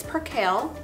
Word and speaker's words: percale: different kinds of sheet fabrics you discuss the pronunciation of them I did because I didn't know how to say it it's percale okay her cam percale sheets are a cotton blend and they're good